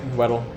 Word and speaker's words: Weddell: And he gets there, they go through the Weddell, is that how you pronounce that? Yep. Weddell.